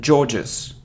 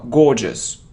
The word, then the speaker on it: gorgeous: it's bullet bullet bullet it isn't George's George's now gorgeous gorgeous gorgeous it isn't coupon